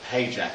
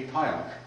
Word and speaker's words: Pająk: people pronounce it correctly, because the true pronunciation of it actually would be Pająk, because it's a Polish name meaning spider.